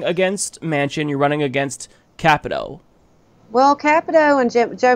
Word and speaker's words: Capito: back hey Mike and that's Shelley Moore Capito actually capital i've been pronouncing that wrong forever what everybody mispronounce is